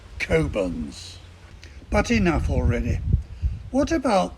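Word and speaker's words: Cockburn's: to pass the port do not refer to it as cockburns it's kobans but enough already what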